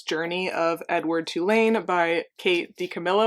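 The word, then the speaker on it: Kate DiCamillo: of Edward Tain by Kate D Camilo I think is how you say her name okay this is what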